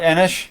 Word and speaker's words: Enoch: this show on this channel we call it Enoch not what you call not inish not Emma SHhhh Enoch why not inish it's pronounced either one depending on where you are